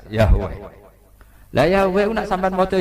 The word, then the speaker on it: Yahweh: Iku nak teng ejaan Latin Y besar, A H besar, W E H besar, Yahweh.